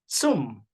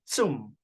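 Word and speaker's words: צום: o no no Ok la palabra para ayuno es zoom sí como Z Al iniciar sí svm zoom sí Y esa palabra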